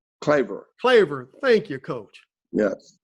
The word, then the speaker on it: Claver: eucharistic and i think i may hope i pronounced that right and a member of the knights of peter calver claver claver thank you coach yes yeah wow wow